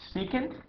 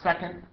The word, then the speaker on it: secant: going to say is pronounce secant it's not second right this is a